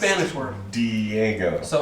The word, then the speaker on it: Diego: it's Well, pronounced it's a Spanish word. Diego.